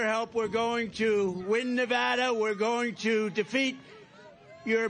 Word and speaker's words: Nevada: we love it and you always have to say it correctly Nevada you right got to